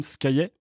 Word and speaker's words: Scaillet: Je suis donc en compagnie de Scaillet. C'est ça. On dit, je dis bien ça? Tout à fait, bravo. Bonne prononciation, parfait.